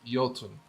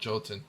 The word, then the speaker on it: Yoten: It's pronounced yoten. Oh, not jolotin. Yoten. Yeah, that's right. Yeah, the yo. The J is like a Y sound.